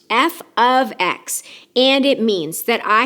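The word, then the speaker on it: f(x): even if it looks like it it is pronounced F ofx and it means that I have a function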